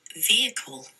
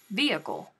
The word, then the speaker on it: vehicle: got going on here say vehicle vehicle did i do it right vehicle vehicle vehicle i bet everyone is it's their vehicle right now i i didn't even know honest to goodness i didn't even know that it wasn't a thing to to pronounce the hmm but now we know